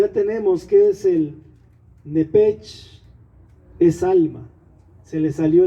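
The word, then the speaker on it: נפש: Alma en el hebreo se pronuncia nepech, se pronuncia nepaj. La C y la H en hebreo se pronuncia como J, nepech, murió.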